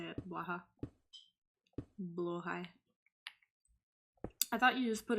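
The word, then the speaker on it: Blåhaj: Blow high is how you say it.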